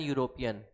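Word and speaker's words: European: अब यहाँ देखो अभी अभी मैंने बताया कि भले ही यहाँ पे जो लेटर है वो वॉवेल है लेकिन इसका प्रोनाउंसिएशन जो है वो यू से हो रहा है, क्या हो रहा है, यू से, तो ये एन क्या है, गलत लग रहा है।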